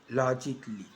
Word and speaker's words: logically: Now, the A can be silent, especially in words that end in A-L-L-Y, like this. Romantically, musically, logically. So I am not pronouncing romantically, musically, and logically.